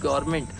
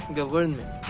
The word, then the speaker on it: government: इट्स not that, it's गवर्नमेंट। यानी अगर आप इसको एग्जैक्टली ऐसा लिखा हुआ वैसा पढ़ोगे ना, आर के बाद N जो है उसका साउंड आना चाहिए, गवर्नमेंट।